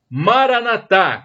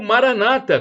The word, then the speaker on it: Maranata: E do dialeto de Jesus, o aramaico, eu clamo, Maranatá, como dizem os católicos, com a tônica na última sílaba, ou Maranata, como dizem os protestantes, os evangélicos, com a tônica na penúltima sílaba.